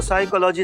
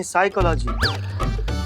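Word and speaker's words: psychology: तो साइकोलॉजी नहीं साइकोलॉजी P silent होता है।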